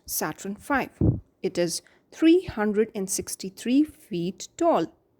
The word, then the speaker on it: Saturn V: The giant rocket that will take the astronauts to the moon is called Saturn V, pronounced Saturn V.